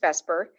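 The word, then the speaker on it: VSEPR: scientists call vesper theory bsepr and um it's pronounced vesper and it stands for you don't need to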